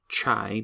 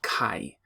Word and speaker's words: chi: I know that word looks like it should be pronounced chi because it has a CH, but it's a Greek letter. It looks like an italicized X, and it's called chi. So the chi-square is a